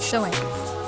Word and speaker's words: Samhain: Halloween has its roots in the Celtic festival of Samhain, pronounced Samhain, a celebration that marked the end of the harvest season and the beginning of winter in regions of Ireland, Scotland, and Britain.